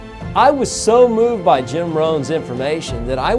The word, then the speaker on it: Rohn: got Tony Robbins started was a guy named Jim Rohn and hits last name is spelled ROH in Jim Rohn he did a